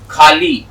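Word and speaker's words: ख़ाली: खाली उर्दू में देखिए उर्दू में जो इसका उच्चारण है वो है से निकलते है यहां से आपके हलक से तो जब हम लफ्ज़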